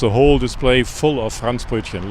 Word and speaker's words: Franzbrötchen: And how do you say it again? It's Franzbrötchen. Like Hans in France, you know, Yeah.